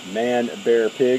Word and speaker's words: Manbearpig: That's Manbearpig.